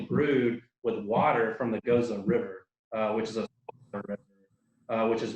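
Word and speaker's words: Gose: I know there's still people that pronounce it wrong. Goza. Oh gosh. All kind of crazy things that they do. Bobby, it's Goza. Shameful. Gaza. Gozy, Gaza, all kind of stuff.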